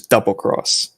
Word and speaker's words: Monster Hunter XX: was their monster monster hunter XX which was Double Cross or yeah project XOne which is the fighting game which is pronounced project cross Zone because it's supposed to